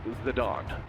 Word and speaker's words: Zidane: Zidane bringing the pain. Baba, it's pronounced Zidane.